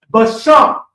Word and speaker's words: basham: And spice is basham.